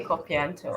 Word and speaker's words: Copo: this yes I think you got the name wrong so it's cop okay Copo all right thank you